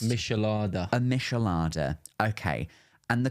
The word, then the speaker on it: Michelada: Remind me of how it's pronounced. Michelada.